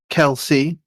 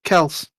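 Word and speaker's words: Kelce: all the time and it's not kell c it's just kels and it's spell as in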